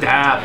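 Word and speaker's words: stahp: This is really Stab, it's stab. Stab. That's how you say it on the internet.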